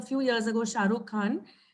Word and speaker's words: Khan: It's a few years ago, Shah Rukh Khan. And the South Indians can't pronounce that kh sound well, right? We say Khan.